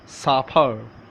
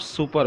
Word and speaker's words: supper: याद रखिएगा मैंने इसका तलफ़ुज़ साफर. इट्स नॉट सुपर. ओके. इसकी प्रोनाउंसिएशन जो है वो कुछ इस तरह है कि इसका जो लफ्ज़ है वो सफ़र.